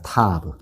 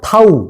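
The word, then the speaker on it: תָּו: 타브 타브 타브 타우 뭐 이렇게도 읽기도 해요.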